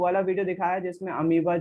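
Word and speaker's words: amoeba: बार बार है नहीं, उसको अमीबा ही पढ़ते हैं, इंग्लिश में भी अमीबा पढ़ते हैं, लेकिन अमोइबा बोलने से उसकी स्पेलिंग याद आ जाती है, क्योंकि स्पेलिंग थोड़ी सी अजीब है उसकी।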